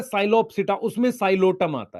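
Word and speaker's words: Psilotum: उसके कुछ एग्जांपल हैं, साइलोटम, पी साइलेंट है बेटा, साइलोटम, terrace, Dryopteris, अडियंटम, azolla, equisetum.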